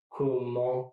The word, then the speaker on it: comment: You can actually pronounce that last T if you connect it to another word. For instance, take that sentence. Comment allez-vous? Comment allez-vous? See, there is a T between comment and aller.